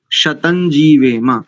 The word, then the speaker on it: शतं जीवेम: कर रहे हैं जैसे पशम शरद शतम जीवे नहीं होगा शतं जीवेम ऐसा करेंगे हा जीी हा जीी